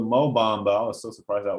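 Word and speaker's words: Mo Bamba: that one's freaking amazing slow samba rhymes with mo bombo i was so surprised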